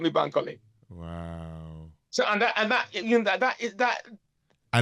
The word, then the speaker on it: Bankole: Help me pronounce that again. Bankole.